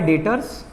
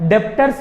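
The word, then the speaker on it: debtors: पहला होता है डेटर्स, जिसमें बी साइलेंट है ना। डेप्टर्स नहीं बोलते मेरे बच्चों, क्या बोलते हैं?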